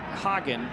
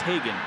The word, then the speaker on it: Hagen: Nicholas Hogan. Generally how he pronounces his name. He was born in Guatemala. When he plays in Major League Soccer, it's often pronounced Hagen.